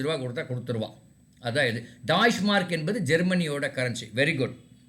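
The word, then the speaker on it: Deutsche Mark: Option C டாய்ஷ் மார்க்னு பேர். அதை படிக்கும்போது டாய்ஷ் மார்க் அப்படின்னு ப்ரொனவுன்ஸ் பண்ணணும். எப்படி ப்ரொனவுன்ஸ் பண்ணணும்? டாய்ஷ் மார்க். யாராவது ஒருத்தர் சொல்லுங்க. Deutsch. அது ஸ்பெல்லிங் என்னமா இருக்கு, அது இல்ல.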